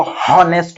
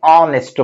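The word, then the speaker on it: honest: हम उसको हॉनेस्ट ऐसा नहीं बोलते हैं, उसको हम ऑनेस्ट बोलते हैं।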